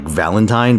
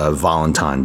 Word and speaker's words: Valentine: Also, her name's written like Valentine, but apparently it's pronounced Valentine because French is a lovely language that makes zero sense if you learn English first.